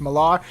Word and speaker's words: Millar: written by Mark Millar I believe it's how you say his name I always say Miller but I think it's Millar and it's definitely his style